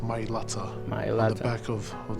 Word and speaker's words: Mailata: representing our family Nam the myata that's the correct way to say it guys my Lata on the back of